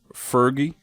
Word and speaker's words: Ferdy: And another star of this film, Tony O'Dell, who plays Ferdy. Is that how you pronounce his name?